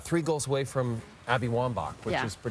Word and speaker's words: Wambach: favorites Christine Sinclair three goals away from Abby Wambach it's pronounced Wambach by the way we were told that when